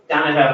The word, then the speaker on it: Dono: get it right uh Dono is Cherokee which means there's no A's U's e G's or apostrophes